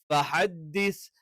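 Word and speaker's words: فَحَدِّثْ: ഫഹദ്ദിസ് ഫഹദ്ദിസ് ഫഹദ്ദിസ് എന്നല്ല, ഫഹദ്ദിസ്. ഹേ ആയി പോകരുത്, ഹേ എന്നുള്ള ഉച്ചാരണം വരരുത്.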